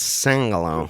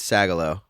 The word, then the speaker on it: Sagalow: the episode brendano said my last name wrong how would you have said it I don't know I went sang along singular it's sagalo Charlie do you have